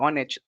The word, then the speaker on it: honest: For example, honest, in the word honest, we don't really pronounce the word h. That's because like o is in the vicinity of the um, letter h, right?